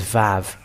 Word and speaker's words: vav: already talked about that it is VAV that's it and when it is V it is pronounced as V in heru that's it so that